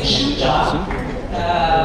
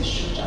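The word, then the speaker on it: Shujaa: When I was saying Shuja, Rispo, this is a Kenyan, it's a Swahili word. Rispo is like, it's not Shuja. Only Mzungu say Shuja.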